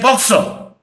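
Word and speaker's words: POCSO: it is an acronym I did not pronounce p o c s o I say boxer this is not running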